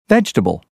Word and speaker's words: vegetable: these rules for example vegetable every evening family usually the second e in vegetable every and evening are dropped as is the i in family and the second you in usually the word comfortable not